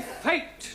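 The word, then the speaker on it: fête: exceptions to the rule for example f e t e is also pronounced fate one no one no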